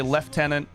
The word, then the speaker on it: lieutenant: So British British people say left tenant instead of lieutenant.